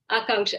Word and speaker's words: Akanksha: Akanksha. Actually, it's pronounced Akanksha. Akanksha. It's a Sanskrit word.